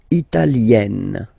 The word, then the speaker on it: italienne: L'Italie, italien, italienne. Remember, when you get this followed by a double consonant like here, then you will have to open it.